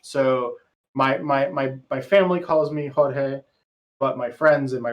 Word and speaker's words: Jorge: George or Jorge? It's both. So my given name by my mommy is Jorge. And that's what she calls me, and that's what all of my family called me.